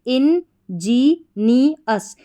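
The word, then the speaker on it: ingenious: तो उसको बोलेंगे इंजीनियस इंजीनियस इंजीनियर नहीं है। ध्यान रखना इंजीनियस। इंजीनियस।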